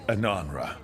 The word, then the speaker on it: Ananra: Asamra. That's Kunlat for congratulations, right? You might want to try Ananra. You just said, we are doing you. I was saying it wrong all this time.